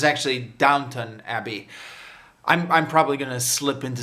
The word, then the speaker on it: Downton Abbey: review because i have a long history of mispronouncing the name of this show as downtown abbey but it's actually downtown abbey probably going to slip into saying downtown abbey